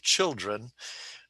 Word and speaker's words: children: There's only 2 syllables there, and the accent is on the first syllable, children.